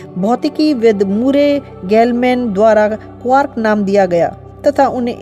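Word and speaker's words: quark: क्वार्क शब्द का उच्चारण क्वार्ट की भांति करने की अपेक्षा की जाती है, परंतु शब्द के अंत में टी के स्थान पर आर के साथ, परंतु सामान्यतः इसका उच्चारण लार्क के साथ ताल मिलाकर किया जाता है।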